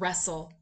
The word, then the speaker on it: wrestle: In Concept 114, students learn that when the letters WR are together, they are pronounced R, as in wrist, ring, and wrestle. The W in these words is silent.